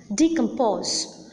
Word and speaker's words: decompose: The similarity is that in all these words that I have just now mentioned, disappoint, entertain, understand, decompose, the last syllable or the third syllable is the most prominent syllable. Hence, the last syllable receives the primary accent.